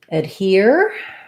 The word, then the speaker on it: adhere: And then for adhere, we have stress on the here. So here's our ERE that we were just talking about, it has the ear diphthong.